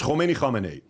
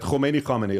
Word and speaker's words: Khomeini: It's Khomeini, okay? And it's very easy name to pronounce, right? Khomeini. Like when you pronounce it, you have a sore throat afterwards.